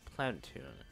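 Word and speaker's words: Planeptune: The event will occur when you access the information at Planetune. Yeah, that's how you pronounce it, Planetune, okay?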